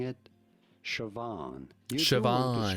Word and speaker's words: Siobhan: Siobhan. Siobhan. Guess what? There's a B and an H in there. It is spelled that way, but what do you mean in another language?